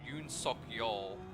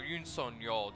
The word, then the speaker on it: Yoon Suk Yeol: But it's not the only thing South Korea has to go through lately, because their former president Yoon Suk Yeol, or Yoon Suk Yeol, depending on how you pronounce it or spell it, has like imposed martial law at the beginning of last month.